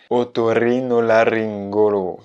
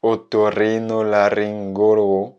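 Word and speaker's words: otorrinolaringólogo: est intéressant du point de vue de la prononciation. C'est un mot long et compliqué, écoute bien. Otorrinolaryngologo. Otorrinolaryngologo.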